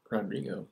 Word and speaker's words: Rodrigo: How do you pronounce his name? Rodrigo. Oh, Rodrigo.